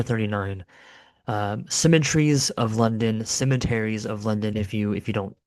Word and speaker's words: Cemeteries of London: I I pronounce the song I I generally pronounce it symmetries of London which I know is an incorrect pronunciation but in the song they say symmetries of London.